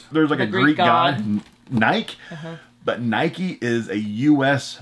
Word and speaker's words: Nike: complaints from people saying you're saying it wrong it's not no it's not you're on a soapbox that's nike okay that's how it is